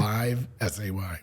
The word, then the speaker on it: Livesay: It's Live. Okay. Like live, S-A-Y.